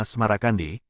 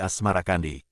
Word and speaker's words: Asmarakandi: Babat Tanah Jawi versi Meinsma menyebutnya Asmarakandi, mengikuti pengucapan lidah Jawa terhadap As-Samarkandi, berubah menjadi Asmarakandi.